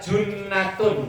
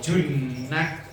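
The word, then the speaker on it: جُنَّة: Allah wasamu Dan puasa junnatun itu benteng kalau jannatun surga kalau jinnatun Jin kalau junah benteng beda huruf depannya bacanya artinya tidak kalau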